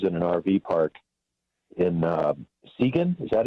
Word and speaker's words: Seguin: So we spent about 36 hours in an RV park in Seguin. Is that how you pronounce it? Yeah. Seguin, Texas? Seguin, yeah.